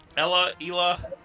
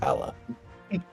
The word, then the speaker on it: Ela: Ela. Do we know how it's officially pronounced? I've heard it Ela. My personal Midwestern opinion, it's Ella.